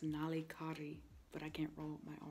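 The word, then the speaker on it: Nallikari: and we walked to this beach called, like, Nalikari. I think that's what it is. Also wrong. It's pronounced Nalikari, but I can't roll my R's.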